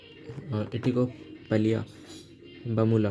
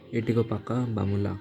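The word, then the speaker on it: Etikoppaka Bommalu: और हमारे यहाँ इटिकोपलिया बामूला नाम का जो ये है, आई am sorry, I was pronouncing it wrong hair. It इज़ एटिकोपाका बामूला इज़ the correct thing.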